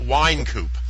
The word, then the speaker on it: Wynkoop: Wine Coupoop.